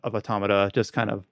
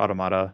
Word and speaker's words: Automata: it wouldn't have reached the highs of Automata, or Automata. I'm going to pronounce it both ways interchangeably.